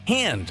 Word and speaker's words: Han: For instance, Lando says Han like hand instead of Han like Hans Gruber.